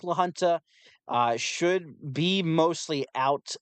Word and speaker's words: La Junta: uh let's see here you said it right La Junta gotcha okay so it's La Junta so obviously I think lahunta uh should be mostly